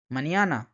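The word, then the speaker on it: mañana: বলেন অনিয়ন নিয় নিয় এই নিয় উচ্চারণটা কিন্তু এই এন এর উপরে টিলস সাইন দিয়ে বোঝানো হয় যেমন নিনিয় মানে হচ্ছে ছেলে মানিয়ানা মানিয়ানা মানে হচ্ছে সকাল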